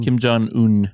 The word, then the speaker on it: Kim Jong-un: Kim Kim Jong-un.